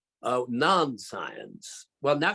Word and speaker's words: Nonscience: Now, Brian has done an updated version of the Nonscience book from 1971. Did I pronounce that correctly, Brian? You schooled me yesterday. Yes, you did. The Americans always say nonsense.